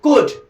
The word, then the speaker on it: could: पहला जो कैन है CAN कैन, और इसके साथ और जुड़ा है COULD कुड, इसमें L साइलेंट रहता है, इसको हम खुद बोलते हैं।